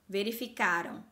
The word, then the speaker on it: verificaram: Preste atenção ao som final deles. Então, ó, verificaram no passado, verificarão no futuro. Olha como tá bem forte a pronúncia dessa sílaba. Então, quando eu tenho o verbo no passado, a sílaba forte é a penúltima. Então, vai ser uma palavra paroxítona. Quando eu tenho o verbo no futuro, a última sílaba forte, a sílaba tônica, é a última.